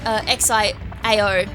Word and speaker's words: Xiao: her default name is Xiao, which I like. I'm pretty sure I'm pronouncing it right cuz it's X X I A O. I'm pretty sure it is Xiao.